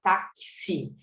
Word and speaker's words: táxi: sonzinho de k s por exemplo táxi a gente não fala taxi a gente fala taxi é como se esse x aqui tivesse um som de um KS tóxico é como se